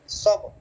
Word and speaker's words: صبر: অবশ্যই উচ্চারণ হবে কোনো হরফ তো আর বাদ যায় না আচ্ছা সবর জি সবর এখন যদি র না আনি উচ্চারণ না করি তাহলে তো এই শব্দের অর্থটাই পরিপূর্ণ হবে না জি একজন একটু শুনান